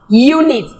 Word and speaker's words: unit: with the Y sound Y sound unit Y sound Union yeah sound even